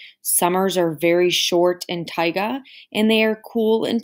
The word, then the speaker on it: taiga: biome is pronounced not take a taiga sounds like tiger but it's taiga it is our largest